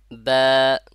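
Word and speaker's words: ب: হয়ে যাবে তাহলে মাখরাজ বার মাখরাজ কোথা থেকে দুই ঠোঁট থেকে মাথায় রাখে দেন দুই ঠোঁট থেকে বা বলবো না বা বা একটু চওড়া টাইপের হবে ঠোঁটটা বা শুনতে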